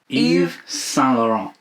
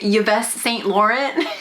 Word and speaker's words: Yves Saint Laurent: How do you say it, babe? It's YSL. Oh, Yves Saint Laurent. Yves Saint Laurent. I've been saying Yves Saint Laurent like a fool.